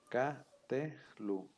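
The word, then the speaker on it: קָטְלוּ: antecede una vocal larga Entonces el sheva ya se va a pronunciar Entonces se va a leer K t Lu sí Kat Lu vean aquí cómo está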